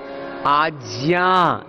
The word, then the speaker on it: आज्ञा: ये दोनों ही प्रोनाउंसिएशन ठीक नहीं है। तो राइट प्रोनाउंसिएशन क्या है? आज्ञा, क्या है बोलो?